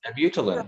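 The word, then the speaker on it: Abutilon: But I actually chose this other piece, Albina Heron's Butilon. I don't know how to pronounce it. I'm kind of using the Spanish pronunciation here. But that's correct. A Butilon, yep.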